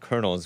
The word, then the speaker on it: colonels: uh three Lieutenant Colonels why is it pronounced Colonels when it says colonal colonal this was not a